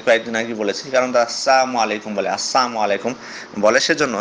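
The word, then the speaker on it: السلام عليكم: সাল্লাম এভাবে শিখিয়ে দিয়েছেন, এভাবে সুন্দরভাবে বলো যে আসসালামু আলাইকুম ওয়া রাহমাতুল্লাহি ওয়া বারাকাতুহু, অথবা সালামুন আলাইকুম, এইভাবে সুন্দরভাবে উচ্চারণ করে তাকে বলতে বলবেন।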